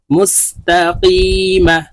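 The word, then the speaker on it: مستقيم: ইয়া মিম জবর মা মুস্তাকিমা মিমকে ক্ষেত্রে সাকিন করে ফেলবো তিন আলিফ টা মিমকে সাকিন করতে হবে কারণ মধ্যে আরজি মুস্তাকিম ইহদিনাস সিরাতাল মুস্তাকিম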